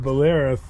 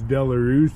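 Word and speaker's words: Belarus: which is local but we always called them boleras but that's the way I've always heard it pronounced but the country for the name's sake the country is actually pronounced valus so I don't know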